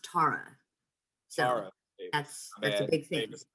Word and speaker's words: Tara: i have to correct you her name is pronounced tara that's that's a big thing davis my bad